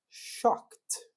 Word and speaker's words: shocked: Eu vou falar shocked. OK. Interrompi o som. Só que nesse momento foi mais fácil fazer um sonzinho de T.